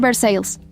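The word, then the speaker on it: Versailles: Walter Grieves vivía en Versalles, Kentucky, pronunciado Versales, porque los quentianos no creen que los franceses deban tener la última palabra sobre nada.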